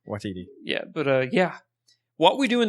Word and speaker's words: Waititi: But no, I love Taika Waititi, or Watiti, however you say his name. Watiti. Yes, Waititi.